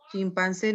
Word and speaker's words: chimpancé: Y añadimos lo que es las sílabas tónicas, la E, chimpancé. Y cuando es sílaba tónica, el plural sería S, nada más.